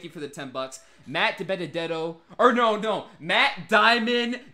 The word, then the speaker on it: DiBenedetto: Matt DiBenedetto, Matt Diamond DiBendito for the win. He always mispronounces his name all the time.